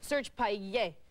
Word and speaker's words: Serge Payer: And let me show you how he pronounced it, because he speaks French. He's from Canada. Serge Payer.